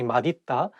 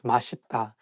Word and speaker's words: 맛있다: So it's okay because even some Korean people sometimes just by mistake say 맛있다, but actually the correct pronunciation is 맛있다.